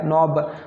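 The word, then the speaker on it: knob: तो ये स्पेलिंग जो मतलब इसका एक्चुअल स्पेलिंग है, इनमें ये आ गई है, के है, एच है, के है, डब्ल्यू है, एच है, डब्ल्यू है, लेकिन इनको पढ़ते नहीं है, ठीक है दोस्तों।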